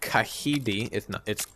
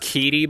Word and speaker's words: Kahidi: Like if we go to Kahidi, it's pronounced Kidi, by the way. I hear a lot of people say Kahidi, and it's super annoying because it's not. It's Kidi.